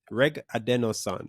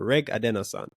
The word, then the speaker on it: Regadenoson: It's pronounced, it's Regadenoson or Regadenoson.